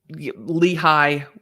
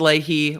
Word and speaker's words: Lehi: jail calls um no i pre i i lehi we got it sorry that i pronounced leahy lehigh i i'm going to butcher the way things